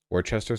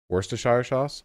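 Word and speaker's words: Worcester: episode about it yeah Worchester sauce Worster I don't even think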